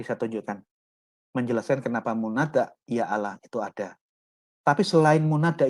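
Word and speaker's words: يا الله: Allah bentuk munada seruan pengucapannya bukan Ya yalah melainkan Ya Allah kenapa seandainya tidak ada huruf hamsah dalam kata aslinya menurut tabarasi niscaya pengucapan hamsa tidak dibenarkan sebagaimana dalam kata-kata lainnya jadi ini yang Saya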